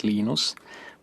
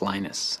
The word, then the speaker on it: Linus: i speak finnish it's linos when i speak english it's linus and i really don't